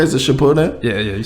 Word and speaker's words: Shippuden: Is it Shippuden?